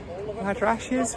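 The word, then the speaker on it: madrasahs: Don't if you can see that awesome sort of like phoenixes on the tile work there, but there's three madrashes, which is the correct pronunciation for old schools or colleges.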